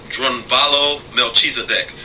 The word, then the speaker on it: Drunvalo Melchizedek: The Flower of Life us fellow authors named drunvalo melchizedek the are you envy alo Melchisedec m e